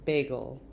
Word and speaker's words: bagel: The A is going to say her name because the E is there. Ba-a-g-l. The E is quiet, just the L will talk with that G. Bagel.